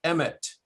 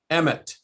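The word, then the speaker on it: אמת: And so basically they would stamp Aleph, Mem, Tav on top of the head, which interestingly is pronounced Emet, Emet.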